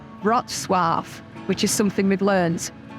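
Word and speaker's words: Wrocław: a-rolls that's run into Worlds Rock cloth or actually as it's pronounced in Polish rot Suave which is something we've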